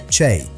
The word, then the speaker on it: chay: Chay, one syllable, completely plant-based.